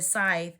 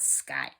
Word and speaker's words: scythe: illness we have the scythe and I was pronouncing it wrong y it's called Scythe not sky danger accident warning you